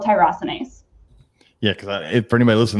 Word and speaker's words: tyrosinase: Is it tyrannosine? Tyrosinase, yeah. Tyrosinase.